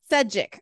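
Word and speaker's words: Šejić: There are people who have, I mean, I think I can never pronounce his last name. Stepan, how do you say his last name? Stepan Sejic, Sejic.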